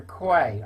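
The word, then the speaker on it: Quy: to DEFRA by Roger Quay. I think that's how you pronounce it, Q-U-Y, his surname is.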